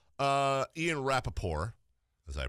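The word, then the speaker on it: Rapoport: Ian Rappaport, as I pronounce it. Rappaport. Yeah, like the Stephen Colbert report.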